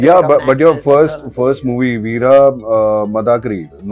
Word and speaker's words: Veera Madakari: Yeah, but your first movie, Veera Madakari, right pronunciation, right? Veera Madakari.